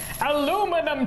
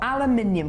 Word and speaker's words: aluminium: Aluminum chain. Or aluminium, because that's how it's spelt.